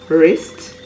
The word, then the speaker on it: wrist: at silence w words if the word starts with wr the w is usually silent as in rap w-r-a-p wrinkle w-r-i-n-k-l-e wrist w-r-i-s-t right w-r-i-t-e roll